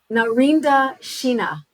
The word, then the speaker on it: Narinder Sheena: I want to put your name up so I pronounce it correctly because you have a gorgeous, beautiful name. Narinda Sheena.